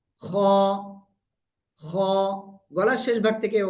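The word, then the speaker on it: خ: শিখেছি হলো এ অক্ষরটা এই অক্ষরের নাম কি খ গলার শেষ ভাগ থেকে এই অক্ষরটা উচ্চারণ হয় তারপরে শিখেছি আমরা এই অক্ষরটা আর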